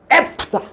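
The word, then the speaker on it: Ephphatha: 에바다도 아라뭐예요? 에프다 이렇게 발음하는데 그거를 적으려고 하다 보니까 헬라어로 번역하면 열리라는 뜻이다라고 해 놓은 거예요.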